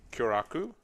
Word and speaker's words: Kyoraku: I'll play Kyoraku, which I hope is the right way to say that. It is. Correct.